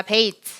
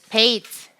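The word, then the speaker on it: בית: 글자는 베이스입니다 따라해 봅시다 베이트 베이스 한 번 더 베이트 베이트라고 발음하면 약간 촌스러운 발음이기 때문에 베이스 이렇게 뭔가 틀을 흘려주시면 되겠습니다 베이트에 발음은 브입니다 브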